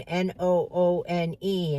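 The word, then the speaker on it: Noone: His name was Eric Noon. N O O N E. And he said, "But we pronounce it no one."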